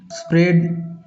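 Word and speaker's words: spread: उसी प्रकार इंस्टेड इंस्टेड इसमें भी देखिए ये साइलेंट है स्प्रेड स्प्रेड इसमें भी ए का उच्चारण नहीं होता तो दोस्तों यह थे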